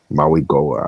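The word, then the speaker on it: Mauigoa: Jaylen rivers and Francis Maui Goa I think is how you say that last name but he's first team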